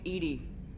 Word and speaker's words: EDI: airlock is a jar why are you named Edie Ed is the phonetic pronunciation of Eed that is an acronym for